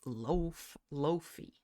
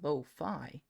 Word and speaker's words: lo-fi: Why do you pronounce it loafy? Which I swear that's not how you pronounce it. I swear it's lo-fi.